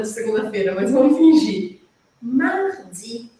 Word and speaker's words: mardi: segunda-feira Mas vamos fingir mardi aquele r arranhadinho na garganta tem vários vídeos aqui no meu canal te explicando como fazer esse som tá mardi esse é o mais